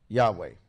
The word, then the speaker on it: Yahweh: me let you annoy Yahweh Yahweh and that's how you would say it in English seamless Spanish let's find